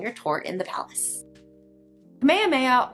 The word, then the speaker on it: Kamehameha: Kamehameha, or as I also heard it pronounced at one point, Kameayyama. I'm not entirely sure which one's correct, but I was told everyone says Kamehameha. He was the king of